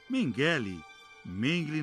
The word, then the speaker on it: Mengele: Mengele na pronúncia alemã, era médico em Auschwitz.